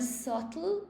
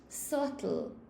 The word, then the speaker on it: subtle: So that the pronunciation of this word is subtle. So the B is totally silent. It's just subtle.